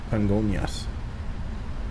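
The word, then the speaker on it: Congonhas: It's written Congojas, but it's pronounced Congonias. I think, anyway.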